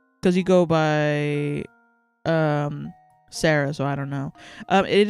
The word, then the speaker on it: Sarah: Is the H silent? Yeah, the H is silent. No, you breathe at the end. Sarah.